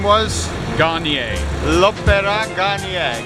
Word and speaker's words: Garnier: Garnier. L'Opéra Garnier. Garnier like the hair products, guys, remember? Yeah, exactly the same. Nice and easy to remember. Not L'Oreal Garnier.